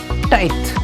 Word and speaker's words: tithe: सबसे पहले टाइथ, TITHE, थोड़ा सा इसका प्रोनाउंसिएशन ध्यान दीजिएगा, दैट इज टाइथ।